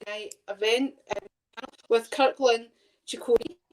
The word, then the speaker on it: Ciccone: night event with Kirkland, Ciccone. I had to look that up to find out how to actually pronounce it. I was thinking, is it like that's spelling? That's perfect, thank you.